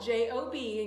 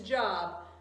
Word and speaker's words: Job: of job yes not it is spelled j-o-b and you think it's job but it's actually job job was a good